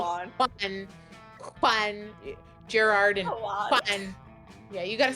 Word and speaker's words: Juan: Juan. Yeah, you gotta say it like that though. You gotta say Juan. Juan. Perfect. I love it. Yeah, you gotta say it like you're coughing a little.